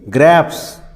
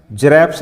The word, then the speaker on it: grapes: जैसे आर आ गया GRAPES ग्रैप्स, इसको क्या बोलेंगे? ग्रैप्स, जरैप्स नहीं बोलेंगे, क्या बोलेंगे?